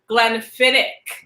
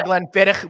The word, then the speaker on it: Glenfiddich: But that is the reason it's not Glenfiddich. So we're going to the Gaelic pronunciation versus what English looks like, which would be Glenfiddich.